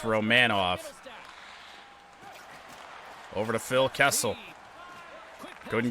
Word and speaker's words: Romanov: Apparently its name is pronounced Romanov.